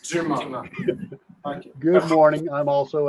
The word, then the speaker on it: Dumas: I pronounce it as the French accent. Dumas.